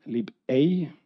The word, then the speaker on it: libei: we created something called lib a uh it's pronounced uh as you pronounce egg in German I'm not sure it's